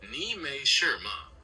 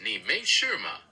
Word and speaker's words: 你没事吗: It's pronounced kind of like 你没事吗? 没事 essentially means nothing is wrong or it's all right. Would you like to try that one? 你没事吗? You're very close. The exact phrase is 你没事吗? The word 事 is the key one there.